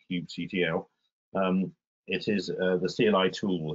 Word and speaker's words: kubectl: At the bottom there is one of a topic of much pronunciation debate, how to pronounce it, but I'll call it kubectl.